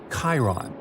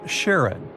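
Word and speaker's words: Charon: Sticks, Nyx, Keraros, Hydra, and the most mysterious one, Chiron, also pronounced Sharon. So, you can pronounce it however you like. I'm going to go with Sharon.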